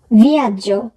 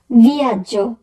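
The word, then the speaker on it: viaggio: ভিয়াজ্য, ভিয়াজ্য, ভ্রমণ, জার্নি। ভিয়াজ্য বানানোর ক্ষেত্রে যেটি খেয়াল করব সেটি হচ্ছে সবার শেষে আছে GEO, তো সেক্ষেত্রে উচ্চারণ হবে জ, আর GEA থাকলে উচ্চারণ হয় যা।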